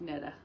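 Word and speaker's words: Knittah: knitta and that's uh k-n-i-t-t-a-h so i'm not pronouncing that wrong it's the wicked netta and i won two sock yarns one called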